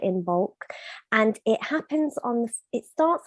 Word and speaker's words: Imbolc: How do you go about pronouncing it? Imbolc. Imbolc.